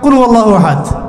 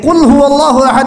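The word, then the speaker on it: قل هو الله أحد: ওয়াল্লাহু আহাদ মানে কি, এটা উচ্চারণই বা কেমন করে করতে হয়? কুল, বলুন, হুয়াল্লাহু আহাদ, তিনি আল্লাহ এক। এই যে কুল হুয়াল্লাহু আহাদ অনেকে বলতে পারে না, কুল হুয়াল্লাহ, কুল হুয়াল্লাহু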